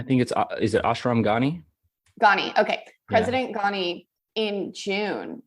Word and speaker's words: Ghani: Does anyone know how to pronounce his name? I think is it Ashram Ghani? Ghani.